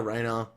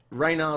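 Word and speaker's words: Ranarr: first paladin coming up give me a Raynor well Reina rhymes with iron bar I guess all right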